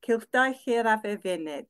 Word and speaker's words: Cylchdaith Yr Afr Fynydd: But the Mountain Goat Circuit is in Welsh pronounced Cylchdaith Yr Afr Fynydd.